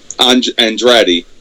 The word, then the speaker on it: Andrade: Versus Andre Cien Almas. Andrade. Oh, Andrade. Okay.